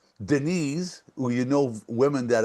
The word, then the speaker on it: Denis: No, the S is silent.